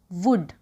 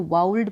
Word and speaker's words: would: ठीक है, वुड, WOULD, वुड। कुछ लोग इसको वाउल्ड पढ़ते हैं, वोल्ड बोलते हैं। ठीक है, तो इसका है वुड मीन्स शायद।